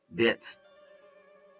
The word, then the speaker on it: Welt: In German, it's Welt.